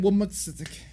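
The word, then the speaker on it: womxn: We're amplifying women's. Who is women? Apparently, it's pronounced women.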